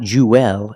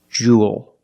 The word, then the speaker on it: jewel: same pronunciation this word Jewel it's pronounced the same as cool and pool you have the long ooh sound plus the dark L there's no extra vowel it's not jeel it's Jewel like pool and cool